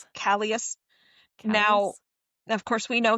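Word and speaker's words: Kallias: Do you pronounce Kalas? Callas.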